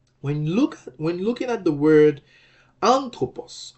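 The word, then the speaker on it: ἄνθρωπος: When looking at the word anthropos, anthropos is normally accented on the antepenult. Okay? So the accented syllable is an in the word anthropos.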